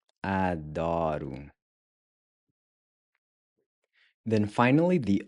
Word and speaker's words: adoro: And then the R is again pronounced like a really soft D, where your tongue just barely taps the gummy ridge right above your front teeth. Adoro.